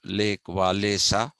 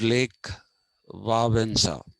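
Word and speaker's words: Lech Wałęsa: solidarity party uh his name is actually not pronounced lake walesa it is pronounced it's pronounced lake vavanza and one of the longest reigning popes pope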